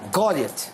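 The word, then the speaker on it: Goliath: ये गॉलियत। तो उर्दू में गलैत नहीं बोलते? गौलैत खेले, चले गौलैत खेले, वैसे इसका सही प्रोनाउंसिएशन है गौलियत, लेकिन आप गौलैत खेले।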